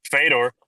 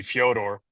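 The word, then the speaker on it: Фёдор: It's kind of like Fedor. Fedor's name is actually Fodor.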